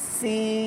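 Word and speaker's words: س: করে মার্জিত ভাষায় বল যদি বল সিন সিন হবে না লম্বা হবে চর পাখির মত আওয়াজ হবে সুন্দর করে সা সি উচ্চারণ হবে সিন বল সিন সিন সিন আমরা কি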